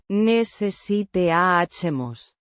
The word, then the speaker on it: necesitamos: Necesitamos calentar las tuberías. Necesitamos. Means, we need. It's the first person plural form of the verb. Necesitar. To need, pronounced. Necesitamos. With the stress on the. TAH. Syllable.